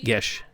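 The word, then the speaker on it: geas: In a bit of anger, I did place a geese upon them. Geese, as in like quack quack. No, G. I think actually, G-I-E-S-E. I think I mispronounced. I think it's Gish.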